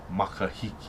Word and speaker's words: Makahiki: eye of time so the rising eye of time will be will be pronounced makahiki in makahiki became so